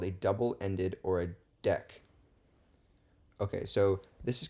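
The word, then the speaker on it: deque: which is a really which is really pronounced a deck to avoid confusion with the DQ method in the regular Q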